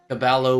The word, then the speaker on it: caballo: Zero Carlsen says, "Levy, the double L is pronounced in Spanish such that caballo would be pronounced differently.